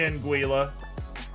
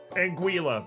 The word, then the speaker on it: Anguilla: pronounce and the uh I mean it's got two l's Anguilla I hate it here I hate it I hate it why why it's very rare that I look at a pronunciation and I'm like you're wrong I why why yeah why would they do that to me U.S pronunciation is different that is the American pronunciation Anguilla that why oh that's